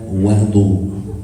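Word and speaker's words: وَضوء: with, you call that wudu with a fatha on the waw.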